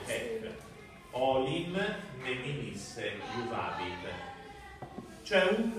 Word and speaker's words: haec: Forsan et haec, che si legge hec, olim meminisse iuvabit.